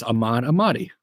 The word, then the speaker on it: Ahmad Ahmadi: It is Ahmad Ahmadi. There's just an I at the end.